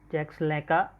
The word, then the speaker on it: Jacques Lacan: It is Lacan, but it is pronounced Jacques Lacan.